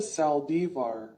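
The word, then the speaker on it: Saldívar: Yolanda Sal divar Spanish pronunciation born September 19th 1960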